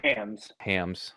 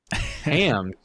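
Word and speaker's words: Hammes: Adam team manager of he said That's I'm pretty sure he said hams. Hams.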